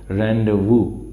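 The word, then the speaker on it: rendezvous: वू ऐसे लिख लो रें वू रें वू ओके रें वू इसकी प्रशन है रें वू रें वू या रेंडे वू रें वू ओके यहां पर जड जो है एक तरह से साइलेंट रंड वू रंड वू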